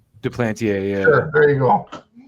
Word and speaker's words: Duplantier: Duplantier, yeah.